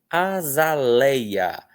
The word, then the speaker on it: azaleia: Aqui nós temos asteriscos, porque essa é uma palavra que tem ditongo e hiato, ok? Então, ó, tem ditongo no lei, azaleia, e tem hiato entre o ei e o a, porque o a é outra sílaba, tá? Então, tem ditongo no ei, tem hiato com o ei e o a. Sendo que o E é a vogal e o I é a semivogal.